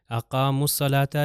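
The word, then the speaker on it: أقاموا الصلاة: ताकि पता चल जाए अकाम सलाता यह वाव जो है साइलेंट हो जाएगा इसके बाद यह अलिफ साइलेंट हो जाएगा फिर दोबारा अलिफ साइलेंट फिर दोबारा जो है इसके अंदर लाम साइलेंट है और यह वाव भी साइलेंट है क्योंकि आप देख सकते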